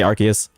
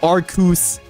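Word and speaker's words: Arceus: Me personally, I'm just I'm just gonna say Archus cuz that's how I've always said it. It's always how I said it. So, good luck, ENQ. No, it's Arcus.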